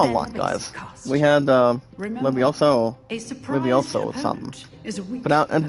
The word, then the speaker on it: Levioso: We had Levioso or something. And the pronunciation, guys, is LB. No, not LB. LEVIOSO.